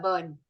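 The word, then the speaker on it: Byrne: so the Magic by Ronda burn it's pronounced as burn huh Ronda Burn yeah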